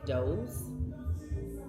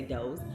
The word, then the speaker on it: Dose: I've been drinking Everyday Dose and I think it's supposed to be pronounced Dose, but it's a Z, so it makes me want to say doze, but it's Everyday Dose.